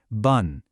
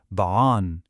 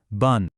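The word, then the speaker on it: بًا: So you always have to write it, but you never, ever pronounce it. It's completely silent.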